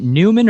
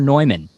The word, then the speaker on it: Neumann: new ethic by Eric is it Newman or nyman I don't know um I used to pronounce Newman all my life and then I went to a workshop once and the guy there said nyman so yeah I guess